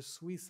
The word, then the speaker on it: suis: So, But when you just click suis. Suis. Suis, they don't pronounce the S.